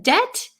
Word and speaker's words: debt: Yes, in debt the B is silent.